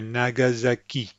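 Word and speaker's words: Nagasaki: in front of the this is an interesting word that I wanted you to notice because you've got three syllables with the same emphasis nag nagak the key is the is where the emphasis is so nagazaki and notice that the S sounds like a z as will all S's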